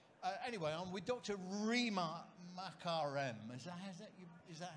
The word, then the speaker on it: Makarem: Rima Makarem. Is that how you pronounce it? That will be fine, yeah. Makarem, okay, fine.